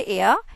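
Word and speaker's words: heir: Successor का मतलब होता है हमारे उत्तराधिकारी, और यहाँ है हमारे एयर, it's mean is what, N will come. यहाँ पर आपका एच साइलेंट है और साउंड किसकी आ रही है, ए की।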